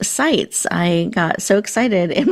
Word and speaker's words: Sitze: And I did want to make sure I let everybody know Lisa's last name is pronounced Sites.